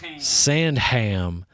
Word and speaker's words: Sandham: We do pronounce the H in this house. Sandham.